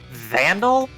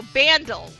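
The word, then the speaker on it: Bandle: I here I don't are you saying Vandal no bandal so it rhymes with Vandal but it's bandal I have not heard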